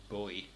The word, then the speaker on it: Bowie: I talked about David I shouldn't say David Bowie apparently I should say David bu when I was a kid it was David Bowie and I don't really feel like changing the pronunciation I'll probably post this